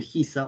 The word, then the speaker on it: Giza: Estas son las grandes pirámides de Giza, o Gizeh, como lo quieras pronunciar, y es que cuando uno piensa en la civilización de Egipto, uno piensa en las pirámides.